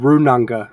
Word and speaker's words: Runanga: It's actually Runanga in proper Māori pronunciation.